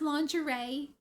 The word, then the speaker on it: lingerie: was pronounced was liri I thought it was pronounced liri and my sister was like oh oh you sweet summer child she's like that is so cute that you did not know how to pronounce lingerie it's a bad word